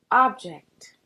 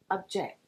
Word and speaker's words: object: Object or object. So, this one is a good one because we hear both instances fairly just as often. The first pronunciation uses the lowercase O sound, ah.